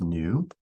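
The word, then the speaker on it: ν: that looks like that that's pronounced new if the frequency goes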